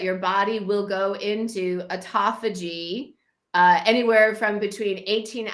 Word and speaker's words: autophagy: it before we got on but it's called autophagy autophagy is the name and it's spelled a-u-t-o-p-h-a-g-y autophagy and it's a it's a it's a